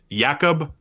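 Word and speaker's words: Jakub: because it's Jacob dos is that how you pronounce it does yakob or Jacob yakob does okay 5 and one 1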